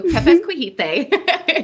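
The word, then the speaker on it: Tepezcohuite: So Tepezcohite is how you pronounce it.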